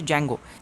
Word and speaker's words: Django: is used in Django D is silent so it is pronounced a Django it is used in